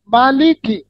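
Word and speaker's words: مالِكِ: কোরআন পড়তে পারেন বলেন মিম জবর মা লামের কাফ জের কি মালিকি হ্যাঁ মালিকি ইয়াওমিদ্দিন বুঝতে পেরেছেন মালিকি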